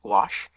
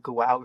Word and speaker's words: gouache: saying gouache wrong because when you look at it it doesn't look like it should be gouache like does that look like it's pronounced gouache no but that is how it's pronounced so when I look at it my brain's going like goue or whatever the heck it looks like instead of gouache okay oil paint acrylic